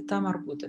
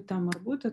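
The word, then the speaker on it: تاء مربوطة: То есть имеется в виду одна из букв, которая пишется схоже с буквой Г, но при этом при слитном чтении читается как буква Т.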